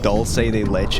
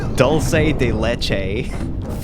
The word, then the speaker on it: dulce de leche: haven't had that forever you ever heard like english speakers try to pronounce it they say dulce de leche and i'm just like